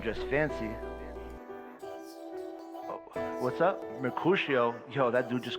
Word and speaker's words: Mercutio: How to pronounce Mercutio. Mercutio.